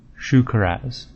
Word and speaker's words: Shukaraz: This is the World Gorger, and it is World Gorger Shukaraz, and their pronunciation is Shukaraz. Okay, so that was pretty similar.